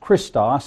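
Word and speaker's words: Χριστός: of the Living God the Greek word for Christ is pronounced Christos and means the anointed Peter declared that Jesus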